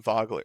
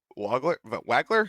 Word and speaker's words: Wagler: they went with Keaton Vogler or Wagler? How do they pronounce it? It's definitely spelt Wagler, Wagler. but Okay. they could be pulling a Franz Wagner and pronounce the W like a V.